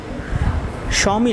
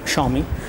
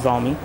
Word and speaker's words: Xiaomi: a tablet uh quite affordable tablet basically from xiaomi so again it is pronounced at xiaomi not zi anyways let's go ahead and take a look